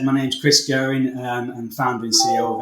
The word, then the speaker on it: Guerin: Fairly close, Guerin. And we even pronounce it differently in our own family, so you're not too bad there.